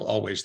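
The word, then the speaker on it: Alvvays: band name because of there's another band called Always they spell it a uh a l v v a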